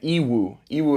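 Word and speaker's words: Yiwu: biggest markets in China are Canton fair and ew euu it's spelled y i Wu and you can literally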